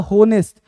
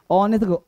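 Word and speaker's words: honest: तो होनेस्ट भी नहीं बोलना है। गलत होता है। एच होता है silent. ऑनेस्ट ऑनेस्ट ऑनेस्ट ऑनेस्ट ऑनेस्ट ऑनेस्ट क्या बोलना भाई?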